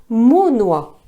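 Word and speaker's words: monnoie: court après mon noix entendez Monoa prononciation ancienne de monnaie mais aucun graveur qui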